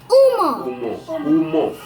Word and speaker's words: umo: We call it Umo. Umo. The pronunciation of umo is very important. Umo. Say umo. Umo. No, not umo.